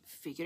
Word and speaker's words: figure: In this case, we have F, F, after that lax e, e.